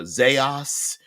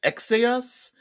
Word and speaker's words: Xaos: to to travel to what I pronounce as chaos XA oos um sometimes it's known as a zos or uh it could be pronounced uh EX uh ex AOS exos but it's the plane